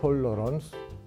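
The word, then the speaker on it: tolerance: 이미 언급했지만 톨레랑스는 프랑스식 발음입니다. 영어로는 톨러런스, 독일어로는 톨레란츠라고 합니다.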